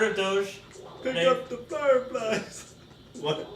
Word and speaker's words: Doge: long story mhm anyway name of the dog Doge or do do it's spelled do o g e there's multiple pronunciations for it do yeah even though